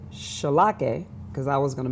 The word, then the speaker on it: Charlockeh: Charlockeh. Now spell that Charlockeh.